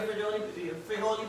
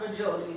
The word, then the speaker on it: frijoles: Make sure you drain your frijoles beans. I want to pronounce it correct. It's not frijoles, it's frijoles beans.